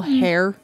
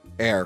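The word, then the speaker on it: heir: her family's money male hair air air I I pronounced the H my bad so only a uh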